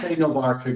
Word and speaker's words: Aite-Novarica: And with more than 45 years of information security experience, he is a strategic advisor for Aite-Novarica Group. Please correct my pronunciation of that, Joe. It's Aite-Novarica Group.